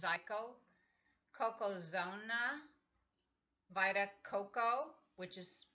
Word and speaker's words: Zico: brands: Naked Juice, CW, ONEZICO, which is pronounced Zyco, Cocozona, Vita Coco, which is made from concentrate and pasteurized with heat.